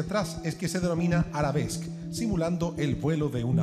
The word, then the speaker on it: arabesque: Perdón, la pronunciación es arabesque.